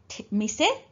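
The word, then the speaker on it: 店: We pronounce it as mise.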